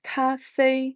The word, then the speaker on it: 咖啡: started I can't live without coffee and that's Cafe in Chinese CA both these characters are just there for the pronunciation this word is actually borrowed from Japanese